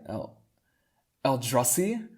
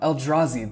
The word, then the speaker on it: Eldrazi: of the oh oh el juzai el eldrassi no no eldrazi that's it i didn't really know how